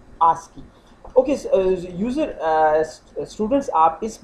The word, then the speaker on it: ASCII: the American standard code for information interchange, often pronounced ASCII.